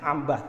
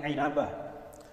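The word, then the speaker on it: عنبة: inabah inabah inabah bahasanya Bacanya jangan Ambah tapi inabah wafat 828 Hijriah dalam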